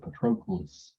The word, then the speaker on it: Patroclus: pretty much achilles that's how you say it patroclus trochleus is achilles bff maybe they're a little